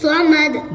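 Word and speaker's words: الصمد: আল্লাহুস সামাদ। দাল এটাও কলকলা হবে।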